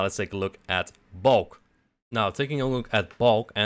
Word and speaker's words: Balk: Now let's take a look at Balk. Now, taking a look at Balk, and apologies for my Dutch pronunciation. A Balk is like a construction beam in Dutch, so that's why I pronounce it like this.